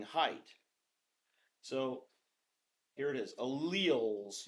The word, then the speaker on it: allele: So here it is, alleles. You can call them alleles, but we're going to make fun of you if you say it like that. Alleles in the Punnett Square.